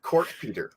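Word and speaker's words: Kortepeter: Derek Kortpeter is how I pronounce it. His last name is spelled Korte Peter.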